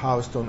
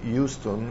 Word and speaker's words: Houston: Street Vi ricordo che Houston si pronuncia appunto Houston e non Houston perché se non vi capiscono New York Qui siamo di nuovo